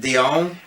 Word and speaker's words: Dion: But, I mean, the lyrics in My Heart Will Go On by Celine Dion, is that how you say it? Dion, okay, was written by James Horner, so it's